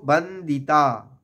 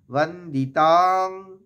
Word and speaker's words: বন্দিতাং: যে কিভাবে উচ্চারণ করলাম প্রথমে দেখব বন্দিতা বা বন্দিতাং এখানে অঙ্গ একটা আঘাত নেব বন্দিতাং বন্দিতাং বারবার উচ্চারণ করব বন্দিতাং যুগে যুগে বলবো